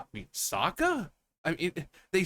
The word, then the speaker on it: Sokka: crap with like the Last Airbender, like just pronouncing the names wrong. Like, yeah, my name is Ong. It's like, you mean Ang? Soka. I mean Sokka?